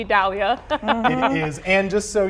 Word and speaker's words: Idalia: I Dalia or E Dalia? It is. Definitely E Dalia It is.